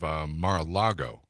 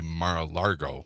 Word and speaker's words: Mar-a-Lago: Well, somebody's taking me to task on the text yesterday about my pronunciation of Mar-a-Lago. They say I say Mar-a-Largo, You which do.